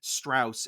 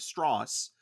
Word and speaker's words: Strauss: And there are little moments where anytime someone pronounces his name wrong, which is something in the movie, they say Strauss instead of Strauss.